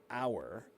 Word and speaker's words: hour: two hours, three hours, hour is spelled h o ur. But because it sounds like a that's a vowel. The first letter is an H, but the sound is an O, right?